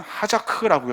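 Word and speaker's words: חזק: 강하다라는 말은 히브리어로 보면 하자크라고 읽어요.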